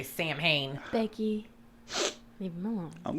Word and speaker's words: Samhain: Samhain?